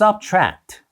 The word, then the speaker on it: subtract: subtract Don't add just subtract 더하지 마세요 그냥 빼세요라고 명령하는 문장인데요 여기서는가 아니라 AD 이렇게 장으로 하는 것이 중요하고 트트가 아니라 subtract subtract subtract 이렇게 강조하면서 발음하는 것 기억해주세요 Don't add just subtract